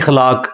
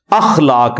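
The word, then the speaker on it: अख़लाक: साथ होते हैं मसलन यह लोग बोल देते हैं खलाक खलाक लफ्ज नहीं है अखलाक लफ्ज है तो अगर हम यह लफ्ज यूज करेंगे तो अलिफ के ऊपर जबर डालेंगे इस तरह इंग्लिश के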